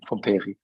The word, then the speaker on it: Pompéry: No, it's a difficult pronunciation, but it's okay. Pompéry it is, but it doesn't matter.